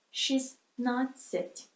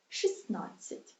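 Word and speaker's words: шістнадцять: Here we don't pronunciate T. We just lose it. She's not sit. But in written Ukrainian, we of course write T. She's not sit. But pronunciate she's not sit.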